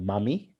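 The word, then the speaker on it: MAMI: my life a mantra it's called mummy m-a-m-i it's an acronym and it stands for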